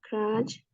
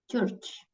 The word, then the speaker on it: church: kayaknya nya yang bagian crutch terus ya bagian buat ibadah gitu yang Heeh bukan bukan crutch ya Church gereja gereja Church ya Church